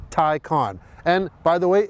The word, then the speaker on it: Taycan: It's pronounced Taycan. That's right, not Taycan or Taycan, it's Taycan.